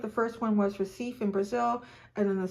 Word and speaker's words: Recife: Brazil, in the Recife, I think it's called, pronounced Recife.